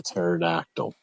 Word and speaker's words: pterodactyl: That's why they call me the pterodactyl. The pee is silent.